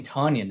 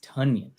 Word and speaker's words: Tonyan: right now that's right i keep saying tanyan it's tonyan tanyan onion it don't